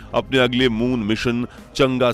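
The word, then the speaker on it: Chang'e: तो भले ही कुछ लोग इस प्रोग्राम को चंगी या चांगी कहकर पुकारते हो, लेकिन असल में इसका उच्चारण होता है चंगा।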